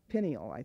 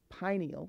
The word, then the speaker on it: pineal: final chakra that's within the body is the pineal gland some people pronounce it penny alai think but it's pineal and you might think of it easier pronouncing